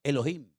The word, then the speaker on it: Elohim: desde el principio es un nombre que se pronuncia Elohim Y quién es ese Elohim porque ese nombre